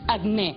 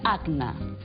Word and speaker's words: acne: No, m'ha fet gràcia que diguessis acné, quan en realitat es pronuncia acne.